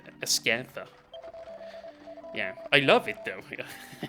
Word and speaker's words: Ascantha: Like, with that very weird pronunciation, like Ascanther instead of Ascantha.